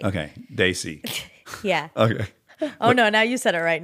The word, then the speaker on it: desi: and it was a gathering of daay people Daisy see I that's right I said it right okay Daisy yeah okay oh no now you said it